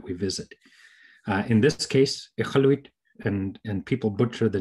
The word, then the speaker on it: Iqaluit: but the Q is quite a guttural sound, a sound. So ichaluk means fish. Ichaluit means there's lots of fish. Thanks, Jason. So from Iqaluit, I hope I said